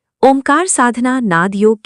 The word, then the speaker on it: ओम: ये ओम 3.5 अक्षरों का विनिर्मित है। ओ, ऊ, ऊ। ओम के उच्चारण में जो अर्धबिंदु लगा है, इसे चंद्र बिंदु अथवा अर्धमात्रा कहते हैं। उसे आधा अक्षर माना गया है। इस प्रकार 3.5 अक्षर का मंत्रराज यों कहलाता है। इसका उच्चारण कंठ, ओंठ, मुख, जिह्वा से होता है, पर इसका बीज कुंडलिनी में सन्निहित है।